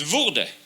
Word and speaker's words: wurde: And also, it's not a W, it's a double V. So it's wurde, all right?